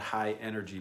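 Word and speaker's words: Hi-NRG: of dance music called high energy music and that's that's spelled hi h i dash n r g you know nrg is all caps which is just like it sounds a high-energy dance music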